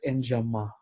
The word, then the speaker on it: enjambment: So if you remember, there is the word enjambment. Actually, many writers will pronounce this as enjama.